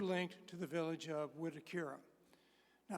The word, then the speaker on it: Mwitikira: Village of wakira now people sometimes say how do you pronounce that word it's MWI T and you do pronounce the m is not silent but if you have a Southern accent like I do it's almost unpronouncable so it should be wura but to me it's just WHUR so in any event uh